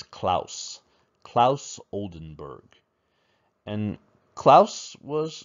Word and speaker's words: Claes: of klaus oldenburg um i know when you look at his name you want to say his name is clase or clays or something like that but we say his name is klaus klaus oldenburg and klaus